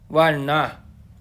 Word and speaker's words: वर्ण: अर्को छ वर्ण। वर्ण। वर्ण। वर्ण होइन, वर्ण है। यसलाई वर्ण भनेर भनिन्छ है। लेख्दाखेरि व लेखे पनि उच्चारण गर्दाखेरि ब भनिन्छ।